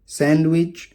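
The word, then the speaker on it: sandwich: इसके अलावा कुछ और शब्दों में भी डी साइलेंट होता है। हैंकरचीफ रुमाल, सैंडविच, वेंसडे, सैंडविच नहीं बोलेंगे, वेडनेसडे नहीं बोलेंगे, वेंसडे।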